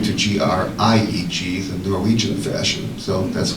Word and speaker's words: Grieg: I read something on Grieg that he's from Norway, and this piece was basically...